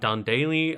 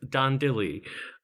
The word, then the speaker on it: Dan Dilly: It's not, in fact, Dan Daly. I believe it's Dan Dilly.